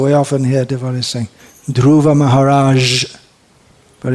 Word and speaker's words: Maharaj: native English speakers to pronounce the word Maharaj as Maharaj more like that just like the word prestige it should be a just well if you say this like the word luggage GE at the end